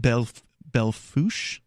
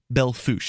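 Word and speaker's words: Belle Fourche: So we have KBFS AM 1450 in, I believe it's pronounced Bellefouche. Bellefouche. It's spelled Bellefouche. Bellefouche, South Dakota.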